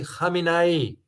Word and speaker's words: Khamenei: the current president, because the current president name almost spelled the same, but is pronounced differently. The previous one who passed away, Ruhollah Khomeini. The current one is Ali Khamenei. So two separate pronunciations because two different people here.